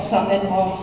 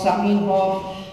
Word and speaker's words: Zamenhof: Zamenhof se vyslovovalo v němčině jako Samenhof, Saminhof, přeloženo Sémě a Bůr. V ruštině se vyslovovalo jako Zamenhof.